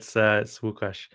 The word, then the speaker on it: WooCommerce: And before we move on to the final plugin, let's go back to the you can pronounce the name, but you got it right. Yeah, it's WooCommerce.